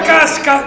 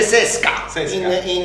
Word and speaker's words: CSKA: Roma Casca, come si chiama? Casca. CSKA, che si pronuncia Sesca in russo.